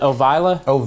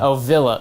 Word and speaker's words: Ovilla: And how'd you pronounce it? Is it Ovila? Ovilla. Ovilla.